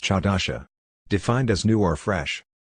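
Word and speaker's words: חדשה: In Hebrew it is pronounced chadasha, defined as new or fresh.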